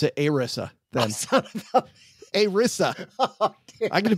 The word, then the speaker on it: ERISA: Retirement Income Security Act, which they call it ERISA or ERISA, Doug. ERISA. That means we're going to pronounce it ERISA then.